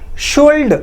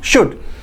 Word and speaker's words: should: बहुत ज़्यादा सुनने में आता है कि ज़्यादातर स्टूडेंट इसको ला प्रोनाउंसिएशन करते हैं, लेकिन ये गलत है। It means there is नो ला साउंड। शुल्ड, this is incorrect. यहाँ पे L साइलेंट है, दिस इज शुड।